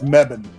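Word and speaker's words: Mebane: I I bet it's mebban. Mebban. Not me. Not not me. Not me. Bet. Mebban.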